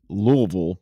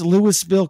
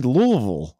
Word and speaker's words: Louisville: um in Kentucky the city of Louisville it's pronounced Louisville but it's spelled like Lewisville and so you have people come in from out of town they go where's Lewisville Kentucky I'm like Lewisville Kentucky Oh you mean